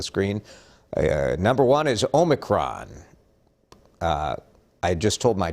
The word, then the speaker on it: omicron: bottom of the screen uh number one is omicron uh i just told my child that it's not omnicron he was adding the n so i bet